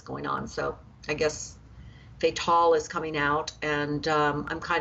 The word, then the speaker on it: Fatale: next month, called, I don't know how you pronounce this, F-A-T-A-L-E. I don't know if it's Fatal or Fatale or what.